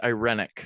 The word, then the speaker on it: irenic: promoting peace aiming yeah you're right irenic and the pronunciation is correct too you're very learned well